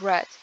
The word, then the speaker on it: read: So the root verb read but the past participle of this word is red. So it's we write it the same but the pronunciation is totally different.